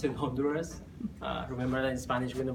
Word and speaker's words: Honduras: on do dance or you might pronounce in Honduras remember in Spanish we do produce H is silent so I will say on Doris so I want to start saying that it's